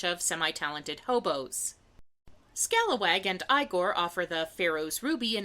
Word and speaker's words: Igor: On the outskirts, an anthropomorphic raccoon named Scalawag runs a shell game while his monkey assistant Igor... No, it's pronounced Igor.